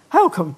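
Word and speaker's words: Holkham: you know Holcomb yes is that how you say it how come yes yes how do you say oh come miss out the L no no that's wrong we should explain we should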